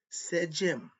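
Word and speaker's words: sedjm: First one said Jim is spelled s e d jm.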